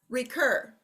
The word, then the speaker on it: recur: Recur. Recur. Recur. Second syllable is accented.